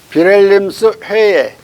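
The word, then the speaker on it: Wilhelmshöhe: 근데 이게 독일 말에 회 앞에 있는 H는 발음을 해요. 근데 모음 사이에 들어있는 H는 발음을 안 해버리거든. 하면 안 돼. 해가 아니라 회니까 잘 알아듣지도 못하고 발음도 잘 하기 힘들지.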